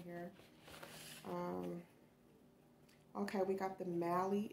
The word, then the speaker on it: Mally: Okay, we got the Mally. Is it Mally? Because, yeah, Sally is S-A-L-L-Y. So we got Mally, the Mally brand.